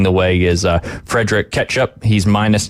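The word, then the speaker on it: Kjettrup: first guy you said it's catchup Fred ketchup yep I and I think that's how Coach Jones pronounces it when we talk about it on the air but uh if you look at it it does not look like that it don't look like ketchup no it's KJ yeah yeah yeah it's mustard actually yeah it's KJ t t r u p oh yeah yep great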